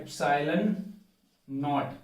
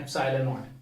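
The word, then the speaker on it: ε₀: This is, इसको pronounce कैसे करते हैं, एप्सिलॉन नॉट, this नॉट इज for this 0, this नॉट इज फॉर 0, इसको ऐसे तो प्रोनाउंस करते हैं एप्सिलॉन नॉट, clear, एप्सिलॉन नॉट।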